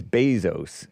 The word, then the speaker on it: Bezos: Jeff Bezos. Bezos. That's how you pronounce the Z, right? In Spanish, it's Bezos, but it's Bezos.